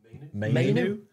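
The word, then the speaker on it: Mainoo: Well, I'll keep getting his name wrong. Mino. What is his name? Mainu.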